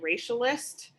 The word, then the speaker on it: racialist: So for me, the word that I made up, that I coined, one of the many, is I pronounce it racialist. It's essentially combining the word racial and racist.